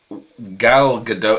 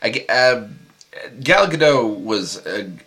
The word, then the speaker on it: Gal Gadot: And Gal Gadot is it? I think it might be pronounced Gale, but it's spelled Gal.